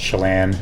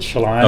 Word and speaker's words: Chelan: It's actually a Native American Indian name, even though I'm not Native American, but it's actually supposed to be pronounced Chalan, but she pronounced it Shalan.